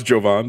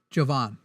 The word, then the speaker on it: Jovan: us, make Jimmy pronounce Jovan. That'd be do not call in to Glaze me. Jovanathan is how I now remember it. Jovan.